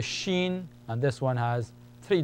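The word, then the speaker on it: ش: scen s the same shape is the letter Shen and this one has three dots above Shen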